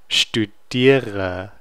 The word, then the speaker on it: studiere: Ich studiere. Studiere. Okay, so now this is actually becoming the beginning ear of a syllable, and it will be articulated.